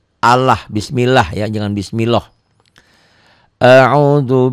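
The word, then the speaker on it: الله: A'udzu bi lafaz Allah ini dibacanya tipis. Bunyi A ya, jangan bunyi O tapi bunyi A. Allah, bismillah ya, jangan bismillah.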